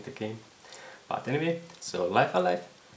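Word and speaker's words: Live A Live: on the katakana of writing i believe it's pronounced live alive so i was completely mispronouncing the game but anyway so life alive it's um originally was made for super famicom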